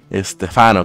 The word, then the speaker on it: Estefano: estafaron yo sé que mi nombre no lleva tildemente Pero bueno se pronuncia estefano Claro sin tilde sería estafado mira aquí otro